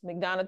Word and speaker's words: McDonogh: sites of mcdonal 35 it is McDonna 35 high school and make sure you use the right one because there is a site where it is spelled HJ g h that's not it yes it's still up